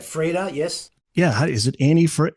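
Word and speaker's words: Anni-Frid: Yeah, is it Annie Fred? How do you pronounce? Oh, Anna Fred.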